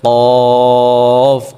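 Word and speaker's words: ق: এই কফ উচ্চারণের সময় আমরা কণ্ঠ থেকে উচ্চারণটা করতে হবে, কণ্ঠনালী থেকে, এবং মুখ থেকে না, কফ বলা যাবে না, বলতে হবে কফ।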